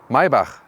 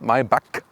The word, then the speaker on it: Maybach: the s-class segment and mybach listen and repeat my bach not my buck because the germans they have this ch as so and the ultimate german pronunciation would be mercedes mybach that's it so now